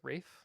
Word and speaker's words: Ralph: Is it Ray or Ralph? I think it's pronounced Rafe. That's how that's how they always said when I watch interviews and stuff. the guy who plays um spelled Ralph though.